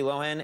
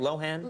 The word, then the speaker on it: Lohan: Host Lindsay Lohan, and am I saying it right? Lohan? I think she says Lohan. Well, I say Lohan.